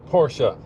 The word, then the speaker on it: Porsche: How do you say the maker of the 911? Porsche. Yeah, that's because that's how the Germans say it.